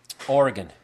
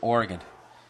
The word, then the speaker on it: Oregon: in the state of Oregon just walking out there like it's not Oregon it's Oregon really then why don't you spell it GI n wow I'm actually